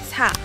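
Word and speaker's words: 사: it the deadly four the chinese character for the word death is pronounced sa which is the same sound as a number four in korean because of this koreans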